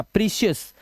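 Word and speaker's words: precious: famous यहां पे आ इस तरह से ओ यू के बाद एस दिखाई दे तो डिलीशियस डिलीशियस उआ कुछ मत करना प्रेशियस आ की आवाज आ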